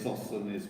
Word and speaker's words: Sosthenes: Sosthenes, you said it Sosthenes, correctly.